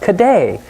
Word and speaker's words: cadet: In French, the word cadet is pronounced cadet, and the Scots changed it into caddy.